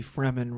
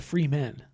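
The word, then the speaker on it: Fremen: the he leads the freman revolution yeah yeah the fman are the desert people yes the free men yes which is how I pronounced it until I watched a film adaptation of it yes yes um that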